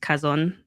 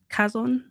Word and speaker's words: Chazon: I know it's C, but it's actually pronounced Kazon. Kazon, cuz it's a Hebrew word.